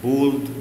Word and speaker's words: bald: bold معناها أصلع. bold B-A-L-D. على الرغم ان في ناس كتيره بتخطف النطق بتاعها وتقول لها bold، لكن لا، هي نطقها bold.